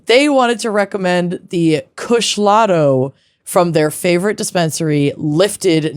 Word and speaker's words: Kushlato: They wanted to recommend the Kushlato from their favorite dispensary Lifted Northwest in Portland, Oregon.